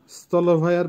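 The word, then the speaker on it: столовая: গারাজ, গারাজের Bangla হবে গ্যারেজ, উচ্চারণ হবে গারাজ। আবারও বলছি গারাজ। স্থলভায়া, স্থলভায়ার বাংলা হবে ক্যান্টিন, যেখানে খাওয়া দাওয়া করি হোস্টেলে বা অন্য কোনোখানে, উচ্চারণ হবে স্থলভায়া।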